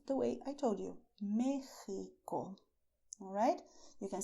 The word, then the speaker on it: México: I did not say Mexico with the sound of taxi because Mexico is to be pronounced the way I told you, Mexico.